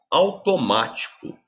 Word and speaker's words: automático: Automático. Automático, gente. Como é que eu separo silabicamente? Automático. Ou seja, a sílaba tônica é a antepenúltima.